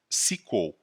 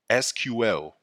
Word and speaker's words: SQL: SQL stands for Structured Query Language, which can be pronounced as SQL or SQL.